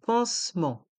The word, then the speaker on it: pansement: e n t pensement le thé de pensement est muet les blessures le pansement les blessures le pansement